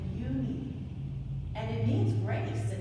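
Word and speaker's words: Unhei: she nodded slowly yes you pronounce it you need and it means grace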